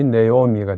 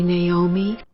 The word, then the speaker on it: Naomi: 다음으로 나오미는 네오미입니다. 두 번째 문장 전체 나를 나오미라고 부르지 마세요는 위 두 분을 이어서 Don't call me Naomi가 됩니다. 원어민 발음으로 들어보시죠. Don't call me Naomi.